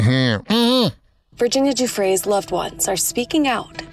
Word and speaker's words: Giuffre: Virginia Giuffre's loved ones are speaking out after Andrew Mountbatten Windsor, I thought it was Guffrey. I've been saying it wrong.